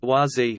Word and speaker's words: Wah Z: Gross, spiritual name, Dap Bren, succeeded him until October 22, 1981, when Klemp, spiritual name, YZ, pronounced YZ, became the spiritual leader.